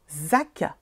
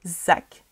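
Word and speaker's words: Szac: C'est comment son nom? Zack. S-Z-A-C. Zack.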